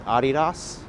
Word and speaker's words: Adidas: Adidas, or the correct way to say it is Adidas. Named after the founder, Adi Dassler.